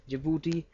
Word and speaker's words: Djibouti: Do remember the spellings here. Be careful. Djibouti. Dj I b u t i jibouti.